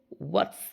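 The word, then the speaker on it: what's: হোয়াটস, এটার মধ্যে আছে হোয়াট ইজ, এখানে এইজটা কিন্তু সাইলেন্ট লেটার, এটা কিন্তু আমরা উচ্চারণ করব না।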